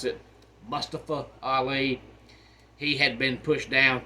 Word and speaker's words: Mustafa Ali: then we've got Mustafa aliers they like to pronounce it Mustafa Ali he had been pushed down to NXT and